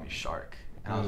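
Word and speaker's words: Sharique: my name is spelled s-h-a-r-i-q-u-e when you read it off the book you think it's shariq in english but it's pronounced shark oh yeah so like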